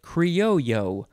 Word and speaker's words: criollo: word in this episode is criollo creolio or you can say it kriyoyo without the l sound it is spelled c-r-i-o-l-i-o